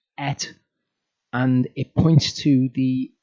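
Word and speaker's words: את: It's pronounced et, and it points to the object of the sentence.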